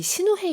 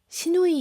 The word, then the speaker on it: 시누헤: 사실 이 신우회 이야기가 묘하게 이제 한글에서는 발음 잘못하면 신우이 이야기로. 네, 많이들 그렇게 농담을 그쵸?